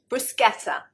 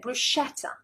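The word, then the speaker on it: bruschetta: with a rather strange expression and corrected my mispronunciation brusketa brusa the British I think probably 9 9 times out of 10 we'll pronounce it brushetta brushetta and of course it is a foreign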